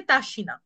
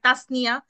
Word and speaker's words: তাসিনা: উচ্চারণ করতে জানতো না যতই বলি যে আমার নাম তাসিনা স্টেজে যাই বলা শুরু করতো না হয় তাসনিয়া না হয় তাসনিয়া না